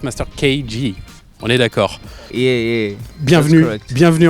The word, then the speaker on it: Master KG: Alors, bien sûr, hein, nous on dit Master KG, mais en vrai ça se prononce Master KG.